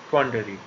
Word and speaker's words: quandary: इसका correct pronunciation है क्वांडरी।